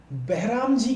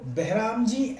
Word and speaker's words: Behramji: तो बहराम जी के नाम से आप लोगों ने सुना होगा हिस्ट्री में, BEH स्पेलिंग लिखते जाइएगा, BEHRAMJI, बहराम जी, M मालाबारी, MALABARI, मलाबारी, और दूसरे हमारे सामने दीवान, DIVAN।